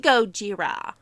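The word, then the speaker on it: ゴジラ: Japanese man or Taiwanese man an Asian it's pronounced Gojira yeah he scared somebody with a lighter to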